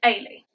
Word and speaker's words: Eilidh: first time a Lee but it's about e-i-l-i-d-h which is pronounced Ali just to confuse you